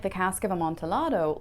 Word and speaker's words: Amontillado: I always want to pronounce it The Cask of Amontillado because I see the